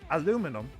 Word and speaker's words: aluminum: world it's spelled a-l-u-m-i-n-i-u-m they pronounce it differently because they spell it differently why is that it's